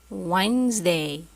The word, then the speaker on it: Wednesday: Sunday Monday Tuesday Wednesday نلاحظ هنا دي لا ننطقها.